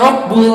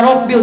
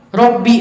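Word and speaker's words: ربِّ: Sama kayak itu tuh kalau lagi baca sholawat Ingda Rabbul Alamina, itu sebenarnya bacaannya Ingda Rabbil, cuman apa lagi nyari ada nggak yang benar Ingda Rabbu gitu. Nggak tahu itu siapa yang bikin Ingda Rabbu, pengen tahu kebenarannya gimana. Karena setelah lafaz Ingda nih, kalau mau tahu rumusnya, setelah lafaz Ingda itu harus jer. Jadi kalimat Rabbunya harus jadi Robbi, harus kasroh.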